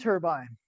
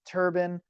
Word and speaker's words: turbine: And now I said turbine. Some people pronounce it turban. I think those are two different things. But if you want to call it turbine, cool. I just don't know if we're talking about the or the you know. So I I specifically pronounce it turbine.